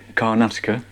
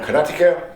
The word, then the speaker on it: Karnataka: I say it Karnataka. Okay. Karnataka. I think it's pronounced like that. I'm pretty sure.